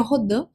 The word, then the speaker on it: Rodin: que o matemático né Marc rodim ou rodan como queira pronunciar o certo seria rodan mas vou falar então Marc